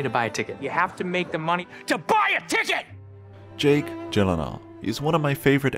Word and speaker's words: Gyllenhaal: It is a Swedish name, so yeah. Shouldn't it be like Gyllenhaal? Oh my god. Gyllenhaal. The only two places that that is pronounced correctly, my last name like you did just now, is in Sweden and in IKEA.